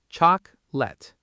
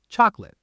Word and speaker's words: chocolate: The middle syllable almost disappears. Chocolate. Chocolate.